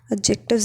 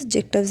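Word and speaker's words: adjective: क्या होते हैं, नाउन्स, एडजेक्टिव्स एंड वर्ब्स। ये लाइन लिख लेना, free morphemes are nouns, एडजेक्टिव्स and verbs. ठीक है, एडजेक्टिव नहीं होता, डी साइलेंट होता है, एडजेक्टिव बोलते हैं हम इसे।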